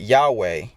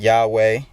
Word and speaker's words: Yahweh: what people were saying Yahweh or Jehovah. But I believe that the pronunciation, I guess, should be Yahweh, because it's Yod, Hey, Vav, Hey.